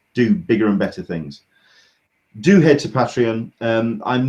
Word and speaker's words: Patreon: You started up your Patreon. Am I pronouncing it right?